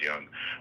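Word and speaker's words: Jung: Oh, um it's spelled like June June, but I think it's pronounced Young.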